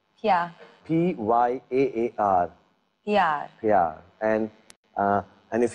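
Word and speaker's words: प्यार: Pyar. Pyar.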